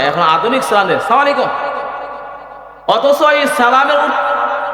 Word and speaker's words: আসসালামু আলাইকুম: রাসূলুল্লাহ সাল্লাল্লাহু আলাইহি সাল্লাম বলেন, হে সাহাবী, তুমি যে সালাম দিছ, সালামের উচ্চারণ হয় নাই, শব্দ হবে আসসালামু আলাইকুম। তুমি যে সালাম আলাইকুম কইছ, এটা অর্থ হইছে তোমার উপর গজব বর্ষিত হোক।